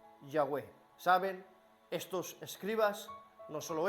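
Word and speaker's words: Yahweh: yahwe y por esto nosotros pronunciamos una mezcla de adonay y yahvé y pronunciamos Jehová pero una mejor pronunciación sería yahwe saben estos escribas no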